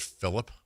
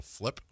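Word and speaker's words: Phlip: The guy's name is I I think his last name I thought it was Phillip, but it's spelled P H L I P. So, Flip.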